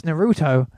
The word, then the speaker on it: Naruto: So Naruto was sitting down, and I was like, oh my god, that's Naruto. And it's actually Naruto, if you're going to use the Japanese pronunciation.